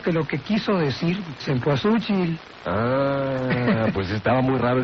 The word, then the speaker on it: cempasúchil: En realidad, la Cabrera, que es el especialista en estas cosas, uno de los nahuatlatos, dice que se escribe con C-E-M-P-A-S-U-C-I-L y con acento en la U. Cempasúchil.